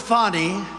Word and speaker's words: Fani: he worked with fonnie even though it's spelled Fanny f a n i fny how about that